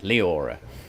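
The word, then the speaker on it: Liora: can't get it right there are two l i o r a Leora there's three syllables so uh far too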